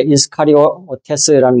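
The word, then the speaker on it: Ἰσκαριώτης: 한 조각을 적셔서 가룟이라고 우리는 성경에 나와 되어 있지만 원래 이스카리오테스라는 말에 발음을 제대로 하면 시몬의 아들 유다에게 주시니 예수 자기를 십자가에 매달아 죽임으로 시몬의 아들 유다 자기가 자기를 죽이는 거예요.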